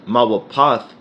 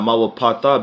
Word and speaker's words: Mawapath: alright and we use you pronounce it mob of path not mob will pop because you got to connect this here alright to keep the arm the a from thought from going out all right so that's